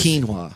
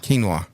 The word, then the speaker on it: quinoa: that hard to find it's spelled weird it's quu i n o a of course it is quinoa quinoa so there you go